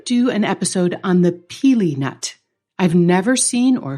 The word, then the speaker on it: pili: devote an episode to the peely nut and that's spelled p i l i and you know isn't